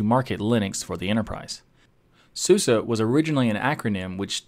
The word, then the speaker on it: SUSE: I'm this is the how to pronounce series from tux digital today's episode Susa sue sue sue sue sue sue sue sue